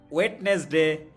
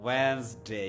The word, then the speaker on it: Wednesday: আমরা বলি ওয়েডনেসডে। Wednesday, ওয়েন্সডে।